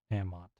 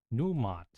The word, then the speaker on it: Numot: Namot. Namot. The DC. Is it Nimut? Namut? N-E-M-O-T. How do I keep misspelling this guy's name? Numot. Numot.